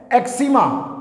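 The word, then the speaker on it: eczema: news please note करें यहां पे स की आवाज स की जगह पे एस की आवाज निकाल दी हमने इसका प्रनंसीएशन क्या है एग्जिमा एग्जिमा खुजली या खारिश नेक्स्ट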